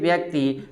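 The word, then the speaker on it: buoy: Actually बुआ शब्द जो है अंग्रेजी शब्द है और एक्चुअली इसका प्रोनाउंसिएशन बुआ नहीं होता है, वॉय, ठीक है ना, वॉय।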